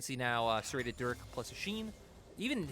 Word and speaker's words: Oisin: He was like, the name's a Sheen. It's spelled Oisin, but it's like, and then like the League of Legends item Sheen.